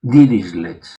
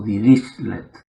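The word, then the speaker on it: Dirichlet: Los que saben alemán dicen que esto se pronuncia disislets o dir dislet.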